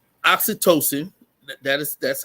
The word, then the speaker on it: oxytocin: that um right yeah yeah so it's it's oxytocin that is that's how you pronounce I pronounce it wrong o x y t o c i n had to do the little read out loud